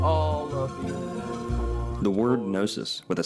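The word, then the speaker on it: gnosis: some Freemasons actually equate the letter G to the word nosis, especially due to the fact that that G is silent, so to speak.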